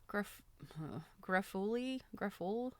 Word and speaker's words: Greffulhe: Although some women recoiled from intrusive optical attention, the Countess Greffuli, that's spelled Greffulhe, a famous Belle Epoque beauty.